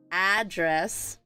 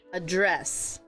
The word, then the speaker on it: address: have address and then this a is pronounced as a as an apple and this is the noun what is your house address so what is your address right this is your noun now if you were to change it over to verb the pronunciation is address and then this one